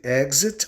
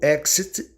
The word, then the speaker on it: exit: gz Observe Execute Exit Exit tem duas pronúncias tanto você pode pronunciar KS como gz Exit ou Exit estão corretas exercises e exercise agora